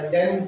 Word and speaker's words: condemn: उसका स्पेलिंग है CONDEMN, इसको पढ़ते हैं कंडेम, कंडेम। एक और प्रोनाउंसिएशन है इसमें इसका, जिसमें ना लास्ट वाला एन वर्ड साइलेंट हो जाता है, कंडेम में म में खत्म कर दें, कंडेम म